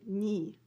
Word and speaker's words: 네가: 내가, or you, 네가, we say 니, 네가. You don't spell it this way, you just pronounce it this way so that you know what you're talking about, okay?